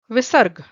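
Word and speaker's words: विसर्ग: Then again this aha, it is known as visarg, V-I-V, S-A-R, sar, G, G-A.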